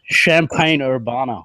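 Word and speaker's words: Champaign–Urbana: one year no I didn't know that oh champagne Urbana yes yes pronounced it right the Illinois yeah exactly yeah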